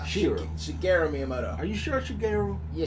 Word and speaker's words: Shigeru Miyamoto: Shigeru Miyamoto. Shigeru. Shigeru Miyamoto.